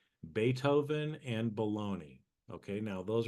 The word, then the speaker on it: Beethoven: Hoven h o b n right but we pronounce it uh Beethoven right but you can say beatoven as a